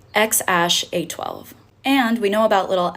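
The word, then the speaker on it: X Æ A-12: his name really made headlines and it is pronounced X Ash A12.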